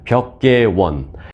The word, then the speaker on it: 벽계원: 말까지 듣게 만든 겁니다 한국식으로 발음하면 벽계 원 영어 표기로 하면 컨트리 가든이라는 그런 회사입니다 자이 회사를 간단하게 정리해